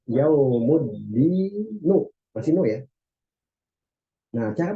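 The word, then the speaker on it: يوم الدين: Maka kita harus hilangkan tanwinnya. Jadi dia berubah yaumuddinu.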